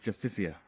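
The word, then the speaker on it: Justiciar: It's pronounced justicia.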